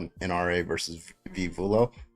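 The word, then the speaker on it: Vullo: It's called an NRA versus Viv Vulo or or Vuyo. I don't know how to pronounce the last name. I'm pretty sure it's Vuyo.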